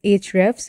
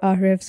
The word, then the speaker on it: Ahrefs: Authority or domain Authority that tool is hrefs or RFS whatever you want to pronounce it ahrefs is what I go by so this is uh